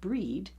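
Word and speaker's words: Bríd: As mentioned before, Gwal is Welsh for festival or feast day, and Fryd is how Breed, pronounced Breed, also known as Bridget or Brigid, is known in Wales.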